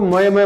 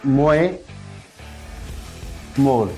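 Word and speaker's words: Moje more: लेकिन यहाँ पे जे जो है ना साइलेंट है, इसलिए मोए मोर, मोए मोर। जी हाँ, इसको क्या पढ़ेंगे? मोए मोर, ना कि मोए मोए।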